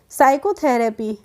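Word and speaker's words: psychotherapy: ठीक है नेक्स्ट है साइकोथेरेपी तो साइकोथेरेपी में भी हम पी से नहीं प्रोनंसिएशन करते हैं एस से करते हैं तो हम इसको पढ़ते हैं साइकोथेरेपी क्या पढ़ेंगे फ साइकोथेरेपी नहीं पढ़ेंगे साइकोथेरेपी पढ़ेंगे तो आई होप आपको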